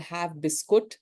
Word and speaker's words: Have Biscuit: and it is called Have Biscuit, the way in India we all pronounce it, and consciously phonetically written as that.